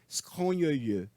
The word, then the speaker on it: scrogneux: um homem agradável, mas seus livros um pouco scrogneux. Palavra péssima para pronunciar em francês.